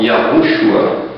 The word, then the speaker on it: Yahushua: Re, Vav, Shin, Ayin, que eu escolhi para mim pronunciar esse nome da forma Yahushua. Esta é a forma que eu achei mais correta, diante das pesquisas que eu tenho feito.